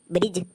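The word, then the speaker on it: bridge: हाँ तो उदाहरण के लिए ब्रिज, बी आर आई डी जी ई, तो इसको हम ब्रिज पढ़ेंगे क्योंकि रूल कहता है जी से पहले डी साइलेंट होता है।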